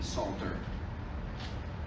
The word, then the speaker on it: Psalter: Again, with a silent P, Psalter.